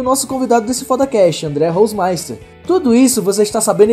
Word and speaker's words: Holzmeister: E pra começar o ano foda, a gente tá aqui com o André Hausmeister. É Hausmeister mesmo que fala, André? Ou é diferente a pronúncia? Cara, é quase isso, é Hausmeister.